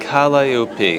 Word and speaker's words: calliope: It looks like calliope. Calliope.